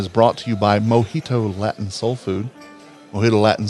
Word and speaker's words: Mojito: That's pronounced Mojito. Yes, not Mohitan, as I keep wanting to mix Mojito and Latin together.